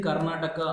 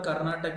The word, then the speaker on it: Karnataka: And coming to the state Karnataka, you can see 5 letters Natak. Its pronunciation is similar to Natak. So try to remember Karnataka as Natak.